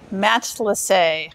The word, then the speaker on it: Matelassé: Matelassé. A friend of ours said, I think of it as a Canadian hockey player, Matelassé.